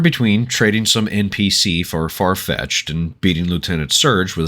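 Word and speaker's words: Farfetch'd: refer to it as farfetch D don't ask me why I have no idea why it's pronounced far-fetched but my brain latched onto the apostrophe in the D and so I went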